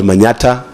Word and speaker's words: Manata: of a place called Manata in embo County it is supposed to be Manhattan but but we cannot pronounce Manhattan so we say Manata and I'm also the